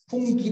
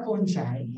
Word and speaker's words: fungi: Yeah, so sabi kasi ng mga Germans, fungi daw yun, hindi raw fungi. Kasi nga, yung kunwari, paano mo ba ipo-pronounce yung singular form ng fungi? Di ba fungus? O, di ba? Pinalitan mo lang yung US, naging G, naging J na yung G, no? Ayan, so fungi daw, fungi.